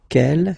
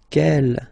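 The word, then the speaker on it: quelle: here masculine plural okay K here feminine singular will become K with the S feminine plural and the good news is that you will pronounce them the same way all right so k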